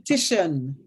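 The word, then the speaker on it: Kittitian: It's actually pronounced Okay. Kittian.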